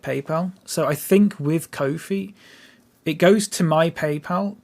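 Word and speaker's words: Ko-fi: I think it's pronounced Kofi.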